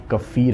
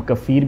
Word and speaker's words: kefir: तो इस खास प्रोडक्ट का नाम कफ़ीर है। इसको हम कफ़ीर भी कह सकते हैं और कीफर भी कह सकते हैं, ये दोनों ही प्रोनाउंसिएशन बिल्कुल ठीक है।